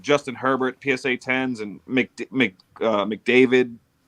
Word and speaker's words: McDavid: These kids are walking around with PSA, like Justin Herbert, PSA 10s, and McDavid, right? Am I saying it right? Connor McDavid.